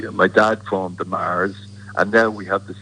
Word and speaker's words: Mahers: Like my dad formed the Mahers, and now we have the second generation of the Mahers. Yeah. Now you lost you pronounce it kind of like the Mars bar, M-A-R-S.